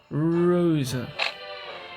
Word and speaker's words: Rosa: You're not pronouncing it right. You need to roll the R. Rosa.